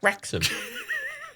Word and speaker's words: Wrexham: the front oh yeah rex it's like wrexham well how many places in the world rex could you put a w and it still would be pronounced idiots three you absolute gibbons you don't get your phone fucking gravity man w after the r and w at the end but it's silent hey did you not